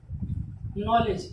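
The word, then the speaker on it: knowledge: ऐसा अधिकांश जगह होगा जहाँ एन के बाद कोई कोई वॉवेल्स आएगा तो क्या होगा, के साइलेंट होगा। देखते हैं उसके आगे, नॉलेज, नॉलेज मीन्स क्या होता है, नॉलेज मीन्स होता है जानकारी या ज्ञान।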